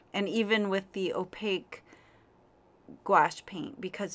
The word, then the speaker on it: gouache: watercolor and gouache paints are gouache I should say I like to say gouache like two syllables but they are also